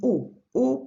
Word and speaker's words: aux: as well, then it would be O, pronounced exactly like the masculine version, but with an X at the end.